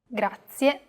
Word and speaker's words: grazie: A very common mistake many learners make when pronouncing this word is that they don't pronounce the final E clearly. Listen closely to how I pronounce this word. Grazie, grazie. Another aspect that can be difficult for beginners is learning how to roll the R.